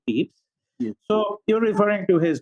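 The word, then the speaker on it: Pepys: it's actually pronounced yes it's written as p-e-p-y-s but but it's pronounced as peeps so you're referring to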